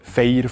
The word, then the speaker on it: Feyr: Oder das bekannte Feier von der Sehnsucht vom Nidwaldner Jodlerclub Wiesenberg.